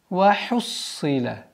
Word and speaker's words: وَحُصِّلَ: «Вахуссила». «Ха», после которой идет твердый свистящий звук «сад».